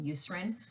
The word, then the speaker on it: Eucerin: my um anti-itch lotion that i got from eucerin which thank you someone finally told me that